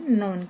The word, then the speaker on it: known: is known, कानून नहीं पढ़ना है, इसको पढ़ना है known, के साइलेंट रखना है, known as the